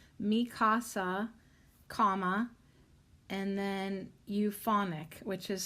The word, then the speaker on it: Euphonik: es su casa, Mi Casa, comma, and then euphonic, which is spelled EUPHONIK.